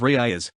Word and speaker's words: Reygadas: Carlos ryoga's Castillo Spanish pronunciation Kalos Ria's born October 10th 1971 is a Mexican filmmaker